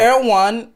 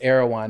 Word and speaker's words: Erewhon: Erewhon is everything Silver Lake is not.